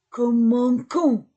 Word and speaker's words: commençons: commences, il commence, nous commençons. Comment commençons? Oui, parce que c'est plus E ou I ou Y se prononce ce. Avec les autres lettres se prononce que.